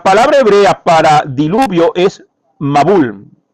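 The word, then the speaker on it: מבול: La palabra hebrea para diluvio es mabul. Mabul, así se pronuncia, mabul.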